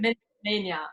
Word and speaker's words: Milchmania: So you got this exciting Milchmania or Milkmania, how do you pronounce it? Project? Milchmania.